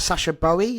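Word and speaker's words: Sacha Boey: lot into when we were linked with that Sasha Bowie is is how you pronounce it uh when we're linked with here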